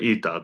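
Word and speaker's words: ήτα: So, alpha or ita.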